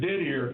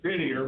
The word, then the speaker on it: Didier: go Clint Didier, and his name is Didier, but I guess they give it the French pronunciation.